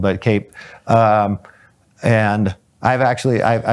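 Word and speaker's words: CAEP: I can't remember how it's spelled, but Cape.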